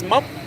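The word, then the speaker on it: một: So, for example, the word for number one is mop, but it's spelled T.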